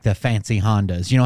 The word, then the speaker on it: Honda: right Isuzu um Honda do you say Honda different ah Honda would be Honda I gotcha um Yamaha